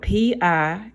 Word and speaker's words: pi: circles so it's spelled p i and we pronounce it pi like eating a piece of apple pie pie equals and it's